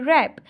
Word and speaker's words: wrap: रैप, रैप, इसमें वैसे क्या स्पेलिंग है इसके, WRAP, रैप, तो इसमें W साइलेंट है, ठीक है।